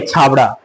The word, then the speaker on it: छाबड़ा: इसे यहाँ के लोग छबड़ा बोलते हैं, लेकिन हम जनरली बाहर के लोग हैं ना, वो छाबड़ा बोलते हैं यहाँ पे। क्योंकि अगर इंग्लिश में इसका स्पेलिंग देखे ना, तो स्पेलिंग होता है CHABRA। तो हम बाहर के लोग छाबड़ा पढ़ते हैं, लेकिन यहाँ के लोग छबड़ा पढ़ते हैं।